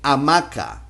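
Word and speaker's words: hamaca: thing the letter H the consonant H in Spanish in Spanish sorry in Spanish doesn't sound it is mute so for the work for the word hammock we say amaka it's just like if we had the same vowel by itself amaka finding a lot of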